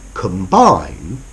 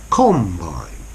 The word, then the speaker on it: combine: for commercial purposes and notice the stress patterns to combine but a combine okay so in the verb to combine the stress is on the second word Bine comine whereas with the noun a combine the stress is on the first on the com a com baring okay